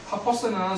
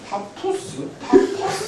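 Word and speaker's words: Pappus: 자, 파퍼스는 상한 이름인데 뭐 파포스 상관없습니다.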